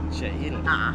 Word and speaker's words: Che'il: Che'il? Che'il. Che'il. Che'il, which we just found out was wild Mayan, right? Che'il Mayan Chocolate.